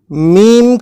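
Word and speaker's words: ميم: words lamp plug bull meme corresponds to the letter M in English and it is pronounced exactly the same way as the sound ma in these English words man camel room noon corresponds to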